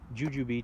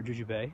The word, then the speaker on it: jujube: are my juju boots jujube trees or juju Bay depending on how you present sisyphus jujube it I think is how it's pronounced anyway I prune them